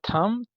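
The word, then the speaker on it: thumb: silent है उसके बाद थम थम में भी बी साइलेंट है अंगूठे को कहा जाता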